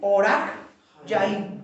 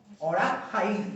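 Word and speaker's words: Orach Chaim: Es decir, Orach Yaim o Jaim. Orach Jaim o Yaim.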